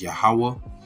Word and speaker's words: YAHAWAH: YAHAWAH is how you say Lord or Jehovah, which is not the proper pronunciation. Then it is YAHAWAH, which is the tetragrammaton, the YHWH.